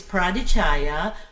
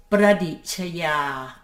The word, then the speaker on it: Pradichaya: my name is radishaya you can pronounce it the american way is pradichaya but the thai way the way it is is pradeep lovely talking and i